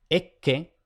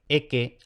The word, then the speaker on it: ecce: Lo ideal es pronunciarlas dobles, no simples. Por ejemplo, ecce o appius o cotta, mejor que eke, appius, cota.